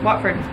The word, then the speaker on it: Watford: Okay, Watford.